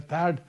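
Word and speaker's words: THAAD: थार्ड TA double AD जो थर्ड missile systems है थड दोनों प्रोनाउंस करते हैं।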